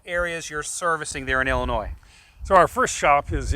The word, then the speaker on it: Illinois: guys are out in illinois i'm trying to say it right i won't throw that s on the end and and you're opening